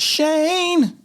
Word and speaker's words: Schoen: It is pronounced Shane.